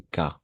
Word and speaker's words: cas: et déb alors ici on va prononcer k k particulier d'accord sans le S cas particulier ce sont